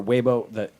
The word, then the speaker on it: Weibo: This came from, you pronounce it Weibo or Weibo, like China's Twitter.